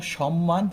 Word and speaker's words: সম্মান: তো এক্ষেত্রে আমার ময়ের উচ্চারণ করতে হবে। কীরকম হবে? সম, থেমে গেছে, সম, তারপরে মান, মা দন্তন, দন্তন থেমে গেছে, আবার সম মান, এই ধরনের।